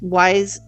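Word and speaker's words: Wyze: friendly design is I really love this wise I think that's how you pronounce it y it's wyz wise Smart Lock now w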